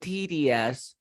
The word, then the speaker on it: tedious: It's been a bit tedious. Cuando vean una O con una U, el 90% de veces o las de 9 de cada 10 se pronuncia como E.